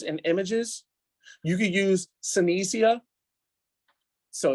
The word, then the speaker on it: Synthesia: gives you pictures and images you could use senecia so it's spelled Synthesia s-y-n-t-h-e-s-i-a and it actually creates a